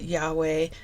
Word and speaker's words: Yahweh: But they have put the letters to make to us so that we can pronounce it Yahweh.